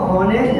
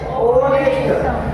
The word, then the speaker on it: honest: ध्यान रहे इसको हॉनेस्ट नहीं रीड करना है, ऑनेस्ट। क्या रीड करेंगे, ऑनेस्ट। एंड हियर साइलेंट, तो ऑनेस्ट।